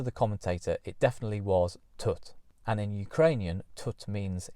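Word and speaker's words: Тут: At Vidbeer, she entered her song Tut, which, written down in English, looks like it should be pronounced tit, but according to the commentator, it definitely was Tut.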